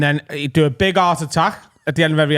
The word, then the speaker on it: Art Attack: It rhymes with heart attack.